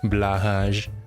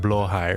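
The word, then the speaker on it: Blåhaj: Garbage, do you like blahage? Actually, it's supposed to be pronounced blowhigh or something, right?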